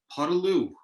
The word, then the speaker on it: Podolioukh: We just figured out how to say his name properly, so for the record, it's Michael Podolioukh. Nothing at the end, just ended on the vowels.